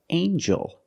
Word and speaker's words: angel: And then we have, with E-L, angel.